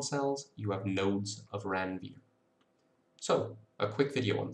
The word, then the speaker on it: Ranvier: Now between Schwann cells, there are little spaces called nodes of Ranvier. That's how you pronounce it in English, but Ranvier was actually French, so it should be nodes of Ranvier.